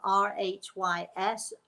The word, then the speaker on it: Rhys: so tongue-tied over it there are no vowels in my grandson's name r-h-y-s rhys it is a welsh name it's very common in